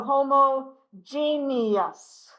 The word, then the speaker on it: homogeneous: The last part of this word is almost pronounced like genius. Okay, genius, except for we give it that extra syllable in the middle, genius. So homogeneous, heterogeneous.